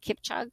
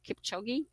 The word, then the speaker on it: Kipchoge: kip chug how do you say his name kip chug kipchoge who said you can't chase two rabbits at